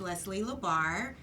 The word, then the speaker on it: Leslie LaBarre: sure hello everyone out there my name is leslie labar and i am with all type insurance and